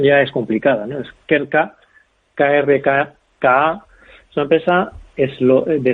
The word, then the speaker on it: Krka: De hecho, la pronunciación ya es complicada, ¿no? Es Krka, KRKA, es una empresa de Eslovenia, eslovaca, líder